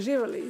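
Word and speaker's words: živeli: I think it's very similar to Russian in that uh Oživele živele. Yeah yeah, that's right. Živele. Um uh some people say Nazdravlje but Živele is also probably more.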